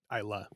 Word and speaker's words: Islay: Islay. Islay, I know. This is America, and I'll pronounce it how it looks. Islay on an island. Islay, as the Scotch would say, when in Rome.